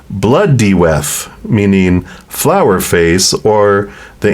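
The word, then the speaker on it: Blodeuwedd: connection and this owl is known as it's pronounced blood deth meaning flower face or the ancient word for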